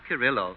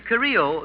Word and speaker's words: Carrillo: Well, Charlie, it's not Carrillo. No? No. In Carrillo, the L is silent. Well, that's about all that is silent, yes.